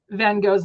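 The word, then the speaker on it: van Gogh: different way of pronouncing van Go's name so in the United States we say van go and in the UK they say it with a slight like G sound to his name and so Kay and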